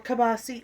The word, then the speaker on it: kielbasa: Or kielbasi, or however you want to pronounce it. I say kielbasa.